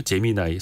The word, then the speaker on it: 제미나이: 제미나이. 사실 이게 스펠링만 놓고 보면 우리가 잼민이라고 부를 수가 있는데 초등학생? 제미나이.